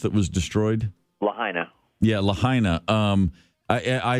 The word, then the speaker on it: Lahaina: the name of the town how is it pronounced that was destroyed Lahaina yeah Lahaina um I I still can't get